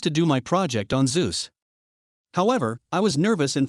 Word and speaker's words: Zeus: I chose to do my project on Zeus. However, I was nervous and for some reason referred to him as Zesus, Jesus with a Z.